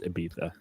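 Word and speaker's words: Ibiza: I took a pill in Abiza, but it's pronounced Aiza.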